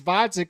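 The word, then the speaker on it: Gvozdyk: So is David Benavidez versus Vodzik with a silent G pay-per-view worthy, or is it not pay-per-view worthy?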